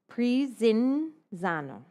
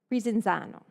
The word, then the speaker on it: Prinzano: So when you see 1S in Italian, it's pronounced like a Z. Think pizza, right? So if you see IS, it'll a Z sound. So Prinzano. Prinzano.